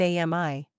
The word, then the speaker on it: Ami: it's spelled Aran, and it's Sara and Ami. I could feel Sarah, without an H, glaring at her sister from across the room. Don't say it. Ami, spelled with an I, grinned and stuck her tongue out at her sister.